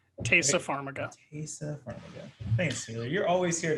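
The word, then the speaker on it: Taissa Farmiga: know dexter um and i'm not going to pronounce her name right uh tysa farmiga tasa pharmaca thanks taylor you're always here to correct my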